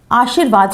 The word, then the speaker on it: आशीर्वाद: बहुत से लोग क्या करते हैं? श पे र लगा देते हैं। और जब हम उच्चारण करते हैं आशीर्वाद शब्द बोलते हैं तो आप बोल कर देखिए कि आशी जब तक हम आशी शब्द बोलते हैं तब तक रा कहीं पर है ही नहीं।